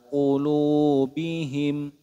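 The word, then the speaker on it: قلوبهم: ala qulubihim ala qu hati-hati kesalahan yang sering terjadi biasanya kita melafalkan ini dengan huruf Kaf tidak seperti itu teman-teman karena huruf dan Kaf itu berbeda makhrajnya huruf ini lebih apa namanya lebih naik dibanding huruf Kaf jadi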